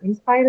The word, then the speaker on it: inspire: Inspire is a verb, to inspire, right? So verbs are marked on, stress marked on the second syllable.